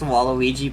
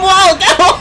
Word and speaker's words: Waluigi: remember one time playing Mario Kart with your younger cousins when you were a kid and they couldn't figure out how to pronounce Waluigi and called him Waldo?